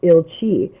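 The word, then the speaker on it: Ilcsi: childhood nickname but she's known more to Hungarian as aunt ili which is spelled i l CSI and you'll find the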